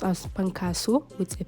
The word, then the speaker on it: Pankaso: written as fasu with an F it is pronounced as pankas with a p because there is no letter